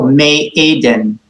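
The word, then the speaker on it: מעדן: And we recall that the ayin is also a silent letter, like its sister Aleph. So me Aden.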